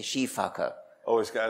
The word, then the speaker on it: sifaka: They are, the eye and all of the Sifakas. Somebody told me the correct pronunciation of Sifaka is actually Shifaka.